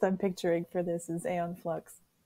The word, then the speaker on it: Aeon Flux: picturing for this is Aeon Flux am I pronouncing that wrong is it Eon flux I'm like am I one of those I did it right it just feels